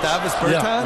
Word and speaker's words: Davis Bertāns: Oh, well, now, at this point in my life, it's Davis Bertāns. Is that how you say his name? Davis Bertāns. Davis Bertāns?